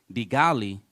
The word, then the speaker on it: de Gaulle: first forged by General de Gaulle, who kicked U.S. I think forces. that's De Gaulle. That's how you say it.